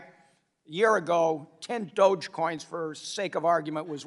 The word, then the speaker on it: Dogecoin: Dogecoin. All right, I have 10 Dogecoins, all right? A year ago, 10 Dogecoins, for sake of argument, was worth $1,000, so $100 a coin.